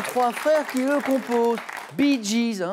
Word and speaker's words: Bee Gees: Bee Gees, c'est les lettres BG prononcées à l'anglais.